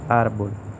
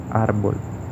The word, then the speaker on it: árbol: En el caso de los ejemplos que se muestran, vemos árbol. Vemos que el acento recae en la sílaba ar, que está anterior a la última, árbol.